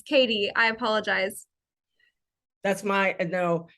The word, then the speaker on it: Cady: It's about 75% catty, and then there's really only 10 to 15% that actually get it right on the first try.